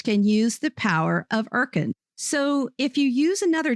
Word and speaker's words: Urkund: Today's sponsor is Erkend.